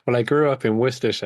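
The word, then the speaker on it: Worcester: I grew up in wiester which uh is the one like no Americans can say wsh yeah it's like w r c right w r c s yeah which looks like war war sester yeah exactly yeah but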